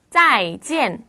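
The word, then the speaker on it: 再见: 넘어갈게요 헤어지는 인산 말이네요 짜이지 짜이지 인데요 발음 하실 때 우리가 안녕이라고 한다고 해서 짜이지 이렇게 하시면 안 돼요 사성 사성 정확하게 지키셔서 짜이지이라고 얘기를 합니다 여기 있는 짜이가 다시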